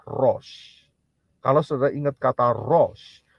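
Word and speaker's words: ראש: rest a left dan Shin itu bunyinya ya prononciationnya atau pengucapannya adalah Rose kalau sudah ingat kata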